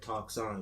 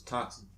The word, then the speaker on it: Toxin: Toxon is toxin. I don't know why. Toxin though. Right.